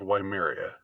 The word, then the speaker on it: Weimar: between the advent of Weimaria, what's called Weimaria, and the actual Weimar days, or Weimar, if you want to pronounce it in the Germanic way.